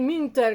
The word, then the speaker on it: Münter: digo que estaba eh se escribe munter con dos puntitos que se lee como una I minter Gabriel minter bueno esta